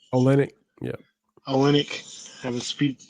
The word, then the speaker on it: Olynyk: it comes to guys like Porter and Kelly Olympic. Olynyk, yeah.